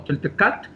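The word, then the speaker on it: toltecatl: En este caso, se puede pronunciar como toltecat, y este toltecat, si nosotros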